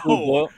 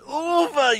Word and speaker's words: Uwe: Have you guys ever covered the Uli Boyle Rampage films? I believe there's 3 of them. Uwe. It is pronounced Uwe, you Schweinhund.